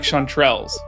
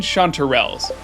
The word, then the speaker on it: chanterelles: And in the same vein, it turns out Andy doesn't even like chanterelles. And by that I mean chanterelles. Turns out I've been mispronouncing that one too.